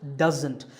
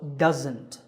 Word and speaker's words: doesn't: of that it's pronounced doesn't there's a z sound there it's not an S sound so doesn't here's a quick exercise